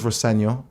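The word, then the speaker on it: Rosenior: My dad says Roseno, which is it is the way to pronounce it, but as long as it's nice.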